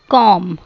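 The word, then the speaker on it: comb: कॉम, कंघी, इसमें B silent है.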